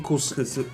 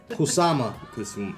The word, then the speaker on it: Kusama: Yayoi Yayoi Kusami. Kusami. Yayoi we're the worst. Kusami. Kusama.